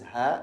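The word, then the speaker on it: ه: This is ha, like the H sound in English, ha, ha.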